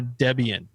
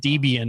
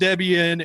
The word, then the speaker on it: Debian: I think I kept calling it Debian until we got an email from a nice user. It's like, there's a reason it's called Debian and you need to fix it, but they were nice about it.